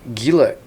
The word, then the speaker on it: Gila: Is it called Gila? Gila. I think the G is pronounced like an H.